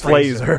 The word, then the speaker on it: Fraser: Fraser, yeah. Yeah, so it's like laser or razor.